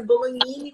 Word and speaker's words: Bolognini: Na verdade, a pronúncia é Bologhini, como se fosse um nh, né? Que esses sobrenomes italianos, eles têm o G, que nem o bolonhesa, né?